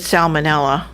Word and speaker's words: salmonella: No, that's if it's salmonella. Salmon is the L silent. Yeah. Salmonella, you got to pronounce the L.